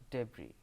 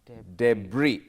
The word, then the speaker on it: debris: debris yes debris but at the end of this word there is an s but s is silent silent debris how to pronounce debris debris you can't say